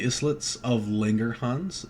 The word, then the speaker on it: Langerhans: an island right so this is pronounced as the islits of linger hans they can also be